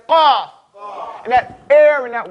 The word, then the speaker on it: qaf: And the qaf is in the back.